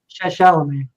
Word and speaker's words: Chalamet: Oh, Chalamet.